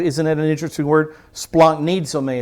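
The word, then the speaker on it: σπλαγχνίζομαι: Splanknizome is how you'd pronounce it.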